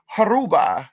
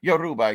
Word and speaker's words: Yoruba: oh okay okay girl can I speak Aruba Yoruba yes you said it Yoruba Cuba may be more